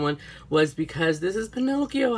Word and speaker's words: Pinocchio: Fairy after watching Pinocchio Pinocchio so sorry I'm Mexican so in Spanish it's Pino and in English it's Pinocchio so it's like it